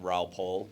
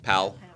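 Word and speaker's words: Raoul Pal: No, I mean we had Raul Paul. Is that how you say his name? Pal. Pal. Raul is your pal.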